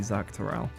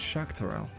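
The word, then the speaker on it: Xak Tural: like originally going ah that must be Zach teral and then they go actually it's shakell it's okay so sha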